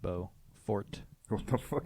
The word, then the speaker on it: Beaufort: Ferg or Beaufort scale it's it's bow like French bow fort before Frank bozo how do you spell B ei you we call it Buford yeah there's the city called Beaufort but it's spelled differently